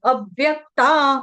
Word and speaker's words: अव्यक्ता: लिए बता रही हूं अव्यक्ता अ पर व का आघात आएगा व्य इसलिए है ना क्यों आएगा ये आपको बता दिया क्योंकि व्य संयुक्त वर्ण है इसलिए आ रहा